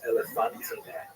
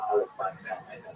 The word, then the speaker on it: Elephantine: I always pronounce that, by the way, Elephantine. So look more carefully. I think it's supposed to be pronounced Elephantine. Maybe someone in the comments will correct me if I get that wrong.